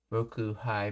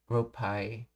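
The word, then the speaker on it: 六杯: It's pronounced as, it's not pronounced as Roku Hai, but rope Ropai.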